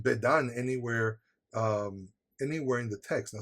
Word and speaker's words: Bedan: Now this actually might be pronounced Bidan, because the bet actually might be an abbreviation of the word son, Ben. And it might have been Ben-Dan.